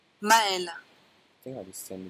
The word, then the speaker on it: Maël: Maël. Maël. I think I just send this to everyone about how to pronounce my name.